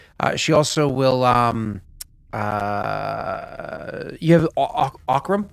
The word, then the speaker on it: Aurorum: She also will, you have Aurorum. I keep wanting to make sure to say his name like Auroram's razor.